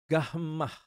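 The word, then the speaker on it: γάμμα: huruf besarnya seperti ini gahmah seperti pada kata gula Delta ya perhatikan huruf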